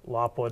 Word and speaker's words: Lapua: Okay, now that bullet, the demand for that bullet probably came from like the 338 Lapua or Lapua, depending on how you want to pronounce it.